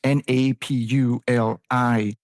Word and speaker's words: Napuli: So the word is Napuli, which naturally stood for Napoli, Naples.